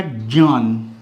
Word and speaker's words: ज्ञान: ध्यान रखिएगा पहली चीज दूसरी चीज जो इसका ज और ञ का उच्चारण है इसके साथ क्या उच्चारण आ रहा है ञ ज और ठीक है अगर हम इसके उच्चारण को इसमें डाल लेते हैं तो शब्द क्या बनता है यह अगर मैं इसको ज पढ़ता हूं तो क्या शब्द बनेगा ज्ञान जन ठीक है ज्ञापन ज्ञापन यज्ञ यज्ञ क्या मेरी बात समझ आ रही है ज्ञात ज्ञात यह उच्चारण है अगर मैं ज और